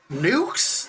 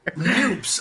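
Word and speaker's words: NUPES: Nukes? Like you say it nukes or noose? How do you say it? Neither. Noops.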